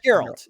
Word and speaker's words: Geralt: geralt I don't know how do you pronounce his name geralt geralt yeah with AAL yeah yeah G with a G not a j okay geralt was born